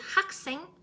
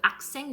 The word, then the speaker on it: 학생: Mais si vous prononcez comme 학교, comme les Français, les personnes francophones qui ne prononcent pas H, 학교, 학생, genre, on comprend bien sûr, mais c'est pas correct.